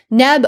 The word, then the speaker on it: nb: So of course in modern times we pronounce this as neb, but this is just a modern convention to stick that vowel in there.